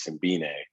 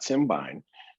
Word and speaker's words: Simbine: First of all, I would like to, apologize for Sir Clyde that the young man's name is Simbine, not Simbine, but we'll run with it.